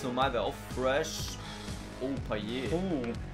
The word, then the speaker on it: Payet: Oh, Payet. Oder Payet, wird er ja ausgesprochen.